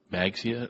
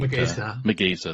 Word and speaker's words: Magesa: And Magsia, I'm going to mispronounce her name, but Magesa, there you go.